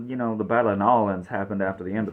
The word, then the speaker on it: New Orleans: end of the war if you're wondering why I'm pronouncing an Islands not New Orleans it's better to say the name of the place the way the locals say it so and you probably